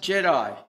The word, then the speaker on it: GEDI: Although the name is GEDI, it's pronounced Jedi.